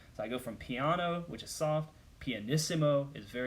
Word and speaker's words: piano: You pronounce that piano, not piano.